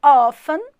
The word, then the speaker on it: often: quiser perguntar aqui ó ó fã que se escreve often fala ó fã é uma sala player